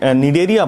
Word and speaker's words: Cnidaria: दूसरा नाम इसका निडेरिया पड़ा, यहाँ पर सी साइलेंट है।